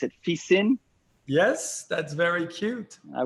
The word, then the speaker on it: Fixin: I was thrilled when I saw that you were sending you said you pronounce it Fissin. Yes, that's very cute. I would have pronounced it Fixin.